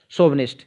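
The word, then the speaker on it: chauvinist: तो ऐसे विश्वास को रखने वाला व्यक्ति जो है वो राष्ट्रवादी कहलाता है, अंधराष्ट्रवादी, शोवनिस्ट। इसकी स्पेलिंग भी ध्यान रख लिए, CHAU, शोविनिस्ट, BINIST, शोविनिस्ट।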